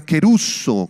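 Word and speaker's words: κηρύσσω: la palabra predicar es la palabra griega quer uso con k acento en la u quer uso significa Sencillamente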